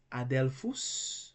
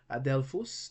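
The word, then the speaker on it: ἀδελφός: Adelphus, another example. Adelphus, that's another example of two consonants that cannot begin a Greek word, and therefore they are pronounced separately.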